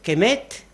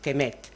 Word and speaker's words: kemet: ejeo ellos distinguían entre kemet Ven aquí la k la m la t eso no hay quien lo pronuncie Entonces se introduce la e por convenio kemet entonces kemet significa tierra